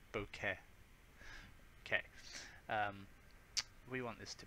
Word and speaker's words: bokeh: Now the bokeh size, it's really hard to pronounce. Try it, it's like bokeh.